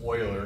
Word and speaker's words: Euler: Euler actually Swiss was so funny it's actually pronounced Euler not Bueller the side it'd be that since